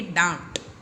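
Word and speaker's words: डाँट: फिर है ड, उसमें आ की मात्रा डा, चंद्र बिंदु और ट, तो इसे बोलेंगे डांट, ठीक है। डांट, डांट। थोड़ा सा न का स्वर इसके अंदर आएगा।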